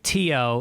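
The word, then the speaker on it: Theo: in and this guy teo it's spelled t-h-e-o but you pronounce it tio in ireland he sees us and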